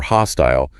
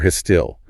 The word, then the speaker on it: hostile: Then you have words ending in "ile," like fertile or hostile. An American flattens it out. Fertile or hostile. A Brit leans into the vowel, fertile and hostile, rhyming with "ile."